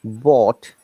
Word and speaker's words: bought: Okay, buy, bought, bought, Both. bought. Both. Similar, Both. bought, B-O-T, Mm. sound like this, bought, yeah?